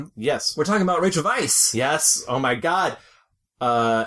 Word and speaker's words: Weisz: to my agent and I changed the spelling to um v y c e to spell phonetically Vice and my Asian um